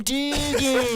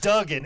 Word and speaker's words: Duggan: And he's like, oh, you mean Hacksaw Jim Dugan? Like, what the fuck are you talking about? It's Duggan. It's always been Duggan.